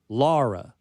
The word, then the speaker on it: Lara: But Lara, soft O, not the hard O, right? That you would get if you get the U in there. Laura, you. And this is difficult because she's in the middle ground. Lara is how you say it.